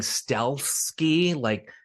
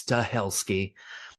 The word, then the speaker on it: Stahelski: I was saying Stelski, like Polish Stelski, taking out the A, but I think it's Stahelski.